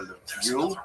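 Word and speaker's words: Lviv: They're dominated by the city of Leviv or Levu as it would be pronounced by people in Richna.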